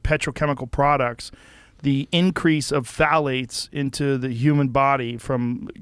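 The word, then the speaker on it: phthalates: And when the introduction of phalates, it starts with a p t h a l a tes I think is how you spell it. Mhm. You say phalates and phalates are a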